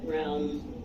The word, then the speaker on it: realm: Realm.